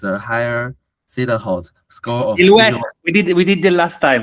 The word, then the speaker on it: silhouette: higher Ziller-Hot score of Silhouette. We did the last time, right? We said the last time. It's French. The pronunciation is silhouette.